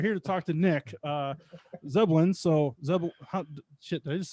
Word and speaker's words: Zebelian: We're here to talk to Nick Zebelian. So shit, did I just say it wrong? Yeah, I think you nailed it. I think you actually got it. Zebelian. Zebelian, Okay.